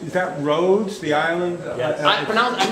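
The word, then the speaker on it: Rhodes: happening and contamination question uh now you said Roadies is that roads the island I mispronounced this yeah and it's very interesting because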